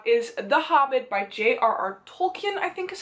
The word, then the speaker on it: Tolkien: Tolkien, I think is how you pronounce his last name.